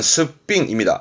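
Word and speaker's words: 素っぴん: 이거를 또는 스삥입니다.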